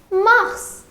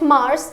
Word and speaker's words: mars: So the pronunciation is quite easy. It is Mars. It is not the planet Mars and it is Mars.